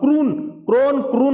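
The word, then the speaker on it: krona: Sweden देश की राजधानी स्टॉकहोम है, और क्रोना यहां की मुद्रा है, जिसे क्रोन भी कहते हैं। क्रोना या क्रोन सब वही है, प्रोनाउंसिएशन थोड़ा सा अलग है लेकिन है वही।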